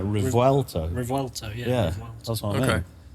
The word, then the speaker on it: Revuelto: I thought it was Revolto. Revuel. How do you spell it?